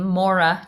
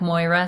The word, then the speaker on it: Moira: like it but i i pronounce my name maura just like laura or nora but it looks yeah but it looks like moira so that's that's totally